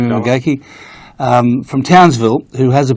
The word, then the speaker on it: McGeachie: That's how you say it, McGeachie? That's correct. Jamie McGeachie, from Townsville, who has